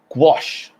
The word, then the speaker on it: gouache: all right well that's quite interesting isn't it pronounced gouache oh have you ever worked with gouache no